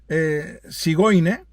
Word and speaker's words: Zigeuner: descienden de estos gitanos, los gitanos llamados Zigeuner, que se pronuncia Sigoine, pues también hay enterrados en el cementerio de Praga, en el cementerio judío de Praga.